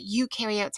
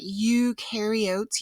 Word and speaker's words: eukaryotes: away with is that eukaryotes have a much more complex cell structure than prokaryotes remember that eukaryotes you rhymes with do and new so eukaryotes do have